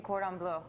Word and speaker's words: cordon bleu: Okay, so in the first segment, we talked about what we were actually going to make, and that's chicken cordon bleu.